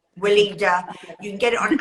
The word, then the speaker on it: Weleda: and that German make, I'm going to say it wrong, Wilder. Well, yeah, well, Weleda. Weleda.